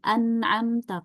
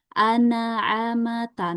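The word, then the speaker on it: أنعمت: Misalnya tadi an'amta kalau dipantul jadi anaamata. Nah, itu jadi ada harakat fathahnya ya.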